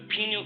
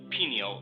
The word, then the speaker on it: pineal: introducing you to the pineal gland and two important neurotransmitters serotonin and melatonin let's start with the word pineal or pineal both pronunciations are correct pineal or pineal meaning pine